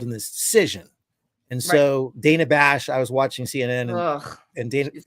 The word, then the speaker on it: Dana Bash: discussion with you know I will allow you mispronouncing her name that's good Donna bash Bush Dan Bush Dana Dana it's Dana Dana Bash I want see second I don't know Dana